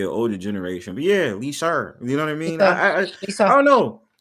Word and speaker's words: Lisa: Cuz my mother's from the Bronx and um for some reason when she says my name, there's like an R when well when she used to say my name, there's like an R at the end like Lisa. Liser. Yeah. Lisa. Lisar. That might be the It might be the older generation that still have that because I think my